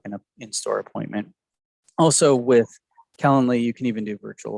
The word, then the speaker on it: Calendly: you spell that it's it's like calendar but with an ly so calendly c-a-l-e-n-d-l-y okay yeah really